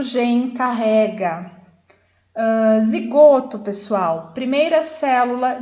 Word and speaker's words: gene: Que se escreve gene, porém se lê gen.